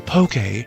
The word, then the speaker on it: Poké: June, P-O-K, accent E, balls, Pokeballs, not Pokeballs, not Pokeballs, Pokeballs. If you say it any other way than Poke, you are saying it wrong, and no, language doesn't